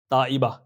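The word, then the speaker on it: طیبہ: ताइबा, ता से आएगा ये और इसकी स्पेलिंग आप स्क्रीन पे देख सकते हैं।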